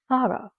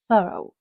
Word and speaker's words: thorough: British English pronounces this word thorough, while American English pronounces this word thorough, whichever works for you best.